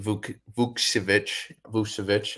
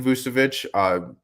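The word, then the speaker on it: Vukčević: We also had Tristan Vukcevic. I think it's pronounced the same way as Nikola, but I think I don't know if it was his debut, but maybe his second game. So Tristan Vucevic, he was a second-round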